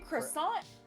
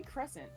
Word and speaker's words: crescent: Moon she kept saying croissant no croissant mask croissant mask sorry it's not croissant mask it's supposed to be Crescent like a like a like the moon shap say J says correct